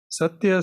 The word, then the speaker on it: Satya: Satya, says Sai Baba, consists of 3 syllables, Sa, Ta, and Ya.